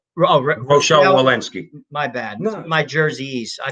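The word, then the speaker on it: Rochelle Walensky: a mask or physical distancing cdc director dr rachel walinski said rochelle wallensky my bad my jerseys i pronounce things like my father which is jackass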